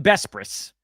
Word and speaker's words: Besbris: I'm Dan Vespris. That's how my name is pronounced.